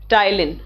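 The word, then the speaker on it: ptyalin: ठीक है, टायलिन का स्पेलिंग आप लोग ध्यान दीजिए, पी होता है उसमें और पी साइलेंट होता है।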